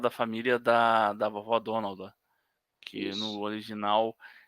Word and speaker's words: Donalda: eh que na verdade a pronúncia certa até como eu falava desde criança é donalda porque é exatamente porque é o nome aportuguesado de de de Donald até porque é é